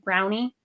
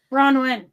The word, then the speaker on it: Bronwyne: My mom put a silent E on the end. So they'd say Brownie. I got that a lot. When they do the attendance list, they're like Brownie. And I'm like, Bronwyn.